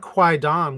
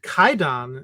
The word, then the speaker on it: Kwaidan: the course of yeah the pronunciation of Quon with the w is actually an archaic form and and kaidon is basically also becoming